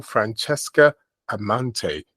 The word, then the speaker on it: Francesca Amante: And I'm here with the wonderful and beautiful Francesca Amante. Did I say it correctly? That's correct.